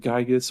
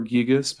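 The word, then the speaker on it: Giygas: No, it's the next one I have is I'm not 100% sure if you pronounce it Gygus or Gigas, but Oh, Gigas from Earthbound.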